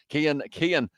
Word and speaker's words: Cian: You pronounce Kian, not got it now as well, says Kian there. Oh, your name's Kian as well. Irish name. I just realized, I just clicked. Then I was like, hang on. I've been saying your name wrong.